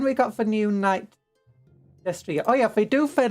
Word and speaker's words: Destrier: Destrier.